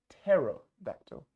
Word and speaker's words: pterodactyl: Но на английском pterodactyl. Каждый раз, если П стоит перед Т, игнорим П.